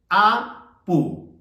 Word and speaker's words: apu: o una deidad y la pronunciación es apu apu vayamos a construir oraciones